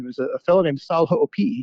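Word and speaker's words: Hoʻopiʻi: There's a fellow named Sal Ho'opi'i, right? Spelled Hoopy, but it's pronounced Ho'opi'i if you have any Hawaiian in you at all.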